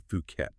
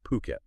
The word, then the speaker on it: Phuket: Today, we're taking a deep dive into Fuket. And just to be clear for everyone, that's pronounced Phuket. Okay, not Fuket.